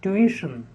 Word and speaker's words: tuition: next is tuition tuition it's very often wrongly pronounced institution its tuition the next is unanimous